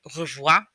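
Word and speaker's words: au revoir: say goodbye it's a looks like it would be a three-syllable word but it's actually a two-syllable word and that r that's there again comes from the back of your throat there are two r's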